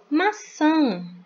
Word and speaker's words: maçã: Aqui eu tenho uma sílaba bem diferente, que é formada pelo C cedilha e o A com tio. Nesse caso, a gente lê san, essa sílabazinha aqui, certo? Nós vamos ler san, então fica ma-san, maçã.